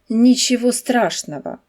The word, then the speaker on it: ничего: Remarquez que la fin du deuxième mot se prononce avant. De non accentueux se prononce a et le gonce comme un v comme dans le mot nicho.